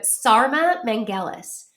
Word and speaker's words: Sarma Melngailis: So Sarma Melngailis is her name, and that's the way they pronounce it.